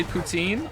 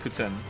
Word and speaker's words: poutine: good but it's not Putin some people say poutine I said poutine for a long time sometimes I still do say poutine but apparently it's actually pronounced Putin Lily wants to move to Montreal and I'm